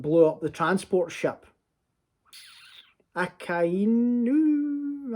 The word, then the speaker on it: Akainu: Akainu, I believe, is how you say his name.